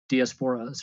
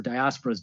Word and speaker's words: diasporas: active other countries were with their diasporas or diasporas, depending on your pronunciation.